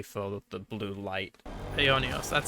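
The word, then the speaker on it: Aionios: Ionios, that's how they pronounce it.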